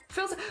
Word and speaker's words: Frilsifer: Frilsifer is spelled like this. Like frilly. Like frill. Frilsifer.